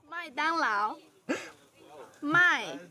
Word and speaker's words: 麦当劳: 麦当劳，麦 My 当 dang 劳 lao.